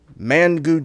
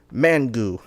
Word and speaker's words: Mangu: on to the next flavor of liquid death man good chainsaw you see it says mangu not pronounced mango it's pronounced mangu it's nice clear